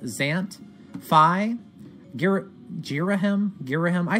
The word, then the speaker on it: Ghirahim: pronounce his name although if you're reading the Japanese it's literally Gita he mu so I guess you're a him I say Ghirahim people told me to say jeera him that